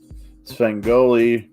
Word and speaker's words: Svengoolie: Svengoolie, pronounced Ghoulie.